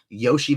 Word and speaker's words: Iosivas: his name is and Andre iosivas is how it's spelled Yoshi is how it's pronounced he's a 3K receiver